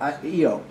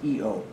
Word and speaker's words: Io: of patera region of io by the way it is io but it is pronounced eo okay heated by gravitational